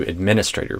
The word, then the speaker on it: administrator: I'd do administrator with the primary stress on the min. There might be variation on that, but that's what I'd recommend. Instead of administrator with the stress on the stray syllable, I